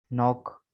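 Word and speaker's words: knock: तो rule number 1 बता रहे हैं कि के is silent in the following words, कि दर्ज झेल अल्फाज में के साइलेंट है। ठीक है, ये देखें के को रेड से हाईलाइट किया है। Knife, knee, not, नो, नॉक, night, नॉब, नील। ठीक है, के सब में साइलेंट है।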